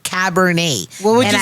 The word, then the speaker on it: Cabernet: pronouncing Cabernet until I was like, how do you say? He's like Cabernet.